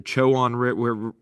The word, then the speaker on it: Chowan: The northwest of our playing field is the Chowan River. And just a heads up, these are the correct ways to pronounce it.